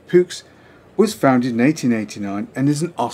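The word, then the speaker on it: Puch: Now Pooch, German pronunciation Pux, was founded in 1889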